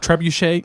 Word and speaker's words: trebuchet: Trebuchet.